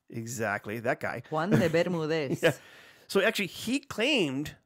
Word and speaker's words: Juan de Bermúdez: So the island of Bermuda actually was named after, and how do you pronounce that guy's name? Juan de Bermúdez. Exactly, that guy. Juan de Bermúdez.